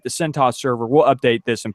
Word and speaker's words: CentOS: And it's either CentOS or CentOS. I like saying CentOS because it's just one less whatever syllable. Cents instead of CentOS anyway.